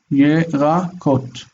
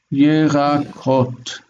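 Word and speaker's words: ירקות: Yerakot. If the accent is unmarked, you see this one marks the accent. If there's no marked accent, assume that the accent is on the last syllable, because we don't mark accent on the last syllable.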